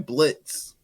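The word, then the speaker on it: Blitzø: call up my man Blitz no o and we gonna get silent exactly we don't have to tell the people the O is silent because we killed the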